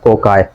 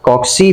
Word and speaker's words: cocci: कोकाई या फिर कॉक्सी भी बोल सकते हो, प्रोनाउंसिएशन दोनों तरीकों से पॉसिबल है। कोकाई अच्छा लगता है तो कोकाई यूज करो, कॉक्सी अच्छा लगता है तो कॉक्सी यूज करो।